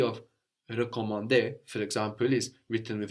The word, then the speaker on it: recommander: But in to recommend, for example, recommander, the E at the beginning is slightly different. No, it's more like in je for I or le for it.